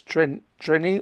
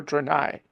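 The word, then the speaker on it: Threni: I think the H is silent, so it's treni or trenai.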